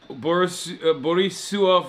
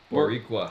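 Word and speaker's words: Boricua: Boris Bisua for life. Am I saying it wrong? How do you say it? Buriqua. Barqua for life.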